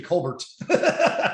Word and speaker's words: Colbert: And I'm like, that might be one of those things like Colbert that he changed it to, because Stephen Colbert grew up Stephen Colbert.